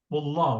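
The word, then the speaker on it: والله: But before Allah, if there is waw, we say wallah. We don't say Allah.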